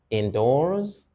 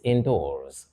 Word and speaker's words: indoors: Do they mean, put together, that the concert will be held indoors? This is indoors, not indoors. So it's stressed on the second syllable.